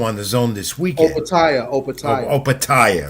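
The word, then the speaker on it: Opetaia: I want Joe Apatia is cruiserweight title defense also on the zone this weekend. Opatia, right.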